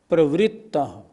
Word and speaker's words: प्रवृत्त: ना किम निजो परिपालनाथम उच्चारण में एक शब्द पर जरूर ध्यान देना है। प्रवृत्त नहीं प्रवृत्त नीचे रा नहीं ये ऋ की मात्रा है। प्रवृत्त इसी तरह मृगी नहीं